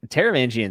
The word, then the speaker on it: Taravangian: do you say it taravangian yes yeah he taravangian is one of my favorite antagonists of all